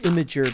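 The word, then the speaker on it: Imgur: was probably on imer which is actually supposed to be pronounced imager but who gives a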